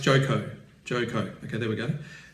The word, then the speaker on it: Joko: The pilot's name is Joko, pronounced Joko.